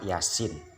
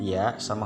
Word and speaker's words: Yasin: Padahal sudah jelas hurufnya huruf yang pertama huruf ya sama huruf sin, maka dibaca surat Yasin. Yang fathah berdiri itu 2 harokat, yang ini ada mad di atasnya menjadi 6 harokat. Cara bacanya Yasin, bukan Yasa.